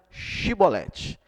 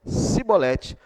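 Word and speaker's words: shibolet: que não e diziam Então diga chibolete se ele dissesse sibolete sem conseguir pronunciar corretamente a palavra prendia no e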